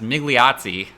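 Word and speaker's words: Migliozzi: did bet them so guido i think it's pronounced migliazi so i've been pronouncing his name wrong this whole time i did put a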